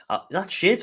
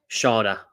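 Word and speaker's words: Schade: That Shade's looked out now. I'm going to have a look at it. Who this is. Sharda. I'm going to keep pronouncing him Shade. I think it's better. Sharda.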